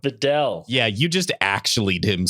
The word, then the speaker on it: Videl: cringed so much that I just like vomited forth the correct pronunciation Yeah. because I couldn't stand it. So Videl.